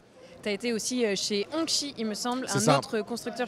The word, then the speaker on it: Hongqi: En fait, Hongqi, c'est la prononciation chinoise, puisqu'on peut dire Hongqi en français.